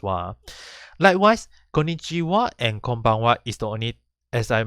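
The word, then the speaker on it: こんばんは: so in konichiwa and konbanwa is even though it's using the ha hiragana it is pronounced as wah and this is only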